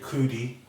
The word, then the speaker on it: Cudi: January 17th, Kid Cudi, or Cuddy. How do you say his name? Cuddy.